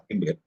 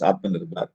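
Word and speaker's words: आत्मनिर्भर: Atmanirbhar is sometimes pronounced as Atmanirbhar. Not the right word, it is Atmanirbhar.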